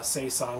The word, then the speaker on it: saison: we brought in probably the most worldwide recognized sasa which is say song to pump from how did you pronounce that word again breath three brasserie DuPont